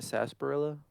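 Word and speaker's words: sarsaparilla: Isn't that sasparilla? Yeah, but that's just how you spell it. The R silent.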